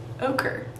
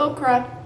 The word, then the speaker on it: ochre: Ochre. Don't learn anything over here. I'm gonna be using golden ochre. Not okra. Ochre. Get it right, ladies and gents.